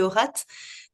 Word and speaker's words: Haurat: là qu'on le prononce avec le T, qui Bon, s'entend. c'est Aurat.